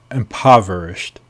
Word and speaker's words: impoverished: conclusion is drawn three impoverished the o is like a ah impoverished reduced to poverty poverty